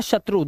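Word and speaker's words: shoe: हो to four dough फो मतलब होता है शत्रु दुश्मन। ठीक है? बहुत अच्छा वर्ड है ये। रो वो एलो फ्लो और जो ठीक है? लेकिन कुछ वर्ड में ओ ई का उच्चारण उ हो जाता है।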